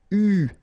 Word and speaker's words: eu: And this is pronounced, so it's an exception because normally you should pronounce it differently, but, so it's an exception. It is pronounced U, okay?